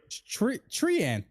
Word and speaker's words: Treant: But yeah, if Trent was cast by this last X turns, that's what you said.